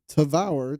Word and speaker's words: Tavour: telling you it it it sounds like devour spelled like you know like d-e-v-o-u-r right so tavour T I don't know